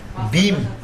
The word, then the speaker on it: ভীম: king ভীমা তাইলে রাজা ভীম এটার উচ্চারণটা হল ভীম কিং ভীম এত অনার